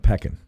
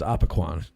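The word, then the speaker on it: Opequon: You pronounce it Peckin. Right. Okay. I always thought it was Apaquan. Oh, that's what they say in West Virginia. They do. Okay, so that's how they say it down there.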